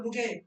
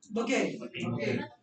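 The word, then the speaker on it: bouquet: the pressure is ऑन बुके इट्स बुके वो हिंदी में जो बोके लिखा हुआ है ना वैसा पढ़ देना ओके ओके मतलब उसको स्लाइड पढ़ना सिर्फ ओके हिंदी देख करके बोके बोल दोगे yes you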